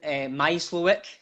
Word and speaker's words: Mysliwiec: So this is an interview with Mysliwiec, pronounced correctly, a wee bit of practice.